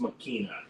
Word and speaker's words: Machina: ex machina X it's spelled Machina but it's pronounced makina ex machina I haven't seen it um maybe